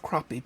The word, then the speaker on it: crappie: And it's spelled crappie, but it's pronounced crappie because we know it's just a terrible name for the best tasting fish in fresh water.